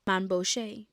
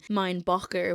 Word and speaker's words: Mainbocher: with the American couturier Mamie Bouché. This was very much a Frenchified version of his name. Mine Boger was probably how it was actually pronounced.